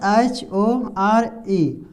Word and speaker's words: shore: इसमें जो ई का जो है ना, इस ई का उच्चारण नहीं हो रहा है।